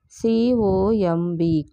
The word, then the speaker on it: comb: COMB, comb. B is silent.